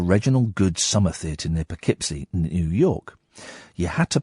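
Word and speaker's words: Poughkeepsie: Katherine is typing it phonetically on my screen. Just say it. Go on. What is it? It's Pikipsy. Is it Pipsy? Is it really? Did not know that. Okay. Pipsy.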